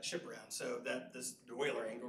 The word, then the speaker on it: Euler: It's Euler. Euler, all right, yes. So these Euler angles. Oops. Zero. So we're basically going to flip that chip around so that this Euler angle, right, is going like this with it.